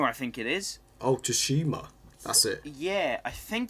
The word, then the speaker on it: Tsushima: Oh, Tsushima. That's it. Yeah, I think that's what it is. I think that's how you say it, yeah.